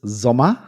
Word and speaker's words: Sommer: Okay, so in German it's Sommer, and that's the German word for summer.